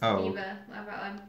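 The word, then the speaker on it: D.Va: true it's from OverWatch it's pronounced Diva sorry guys I don't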